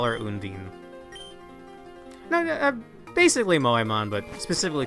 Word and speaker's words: Undine: I've always read this as Undine, but it's apparently Undine. But I'm gonna call her Undine.